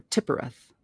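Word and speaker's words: Tiphereth: 6, Tifereth or Tippereth.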